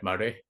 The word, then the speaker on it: Maraigh: yeah, it's like Murray.